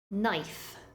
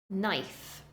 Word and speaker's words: knife: the final group of words with a silent letter have a silent k there are lots of